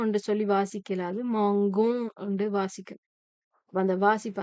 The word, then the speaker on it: mangeons: ஏன்னா இந்த நாங்கள் போடாட்டிக்கு நாங்கள் மோஞ்சோம் என்று சொல்லி வாசிக்கலாது. மாங்கோம் என்று வாசிக்கணும். அப்ப அந்த வாசிப்பு அந்த உச்சரிப்பு சரியா வர்றதுக்காக வேண்டி இந்த நாங்கள் இதுல போடுறோம்.